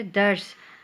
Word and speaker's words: درس: انتشار۔ اگلا لفظ ہے درس، دال پہ زبر، رے پہ جزم اور سین اپنا جو ہے تلفظ خود واضح کر رہا ہے درس۔ اگلا لفظ ہے ہمارے